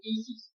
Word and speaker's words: ISIS: Hay un mantran que hay que pronunciar, es el mantran de los misterios que se pronuncia ISIS en dos se reparte en dos silagas.